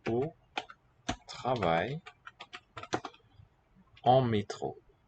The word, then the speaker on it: métro: So for that sharp E quality, we need a special symbol. A with an letter E with an acute accent. Métro. Otherwise, it would be métro with no mark above it.